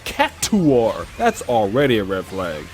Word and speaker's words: Cactuar: over half my life and have been saying Cac-Tar my whole life, only for this game to say it's pronounced Cac-Two-Are, that's already a red flag.